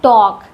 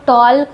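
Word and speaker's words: talk: इसको पढ़ते हैं टॉक। बहुत सारे छोटे बच्चे इसको टॉल्क भी पढ़ते हैं। पर यहां पर एल साइलेंट होता है।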